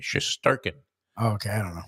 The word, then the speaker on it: Shesterkin: Shesterkin, the goalie for the Rangers. Shesterkin, yeah. I think the middle syllable is the one that's emphasized. Shesterkin.